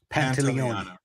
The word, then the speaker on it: Pantoliano: name is, last name is I can never pronounce it. Pantoliano. Pantoliano.